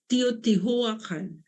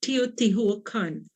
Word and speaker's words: Teotihuacan: Teotihuacan. Teotihuacan. I don't know if you can pronounce it.